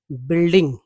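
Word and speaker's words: building: देखिए यू जो है यहां यू साइलेंट आप समझ के चलिए बिल्डिंग नहीं पढ़ना है यू को साइलेंट र कर देना है ठीक है यू को साइलेंट करना है इससे तभी पढ़ा जाएगा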